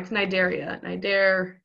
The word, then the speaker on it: Cnidaria: It's Cnidaria. Cnidaria. Just so you know how to pronounce it.